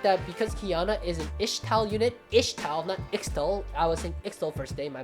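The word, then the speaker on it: Ixtal: because Kiana is an ishtal unit extol first day my bad um it comes from a Spanish word but the Spanish word um it's ixt and it's pronounced isht so I don't know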